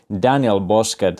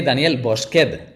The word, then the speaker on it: Daniel Bosqued: daniel boskett hello uh was that a correct way to pronounce your name yes we i would say danielle bosque but yes is very well pronounced oh yeah that was definitely a spanish way danielle yeah anyway welcome